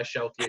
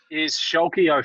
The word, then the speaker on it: Schalke: the break, and therefore I reckon that's why Schalke are going to win by 4.